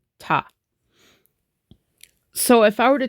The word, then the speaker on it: ta: But the beat for both sections, for the divisions of 2 and 3, it's always going to be pronounced ta.